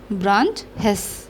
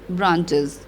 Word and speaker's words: branches: तो यहाँ पे क्या हो गया, ब्रांच हेस. इट इज़ नॉट ब्रांच हेस, इट इज़ ब्रांचेस.